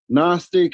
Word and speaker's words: Gnostic: Um, for one, nonstick is the G is silent.